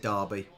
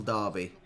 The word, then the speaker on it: Derby: that pass darby uh it's spelt d e but we'd call it darby the local derby but d e d-e-r-b-y we're not like the yanks that call it a derby i don't know what